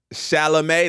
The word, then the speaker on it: Chalamet: keep the hhsb uh shalam that's how you say it you said it right all right they got